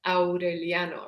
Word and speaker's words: Aureliano: your head for example a name like aureliano which is repeated hundreds of times in the novel um the a and the u are separate it's aureliano right it's not orioliano